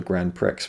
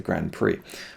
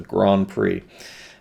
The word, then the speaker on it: grand prix: it was called a grand prix but it's of course the grand prix or is it grand prix i don't think you even pronounce the d in grand it's just a grand prix and i would just